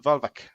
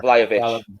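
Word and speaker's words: Vlahović: Dusan Volvic. Pronouncing his name wrong, I'm sure. Vlahovic. That's it.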